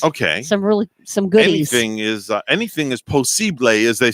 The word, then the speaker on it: posible: Anything is posible, as they say it in Español. Yeah. Posible en español. Posible. Is how you say possible in Spanish.